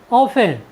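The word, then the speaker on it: often: नहीं करते हैं जैसे ओ एफ टी ई एन ऑफेन ऑफेन मीस होता है प्राय साथियों यहां पर टी के बाद ई एन आया है इसलिए हमने टी का उच्चारण नहीं किया है हमारा नेक्स्ट वर्ड मीनिंग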